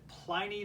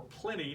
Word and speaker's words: Pliny: the Common Era by Pliny the Younger or plenty depending on how you pronounce it about a haunted